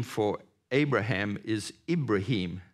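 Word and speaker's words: إبراهيم: name for Abraham is ibraim said with an I pronounced with an e ibraim is only mentioned 76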